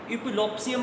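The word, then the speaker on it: Epulopiscium: अब इसका प्रोनाउंसिएशन देख लें, इपुलोप्सियम पढ़ते हैं इसको, हम क्या पढ़ते हैं, इपुलोप्सियम फिशलसोनी।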